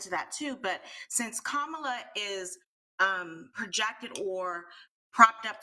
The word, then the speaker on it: Kamala: Well, first we have to pronounce her name properly, so it's Kamala, not Kamala.